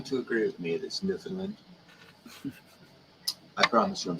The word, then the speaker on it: Newfoundland: i'm saying it correct it says newfoundland to me maybe some new guy found it and a new finland rhymes with understand understand you found that yeah newfoundland understand i wrote a song